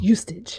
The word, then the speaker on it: Eustace: It's Eustace.